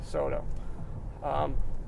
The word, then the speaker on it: Soto: Soto.